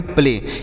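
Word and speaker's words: play: साथ अगर वाई होता है तो ए का उच्चारण एक की मात्रा होता है तो इसे पढ़ेंगे प्ले यानी ए के साथ अगर वाई का प्रयोग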